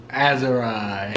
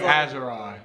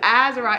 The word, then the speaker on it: Azari: So every time we go out and then we've been going to the doctor. Azari? They call him Azari. And I'm like, Azariah. It's Azariah.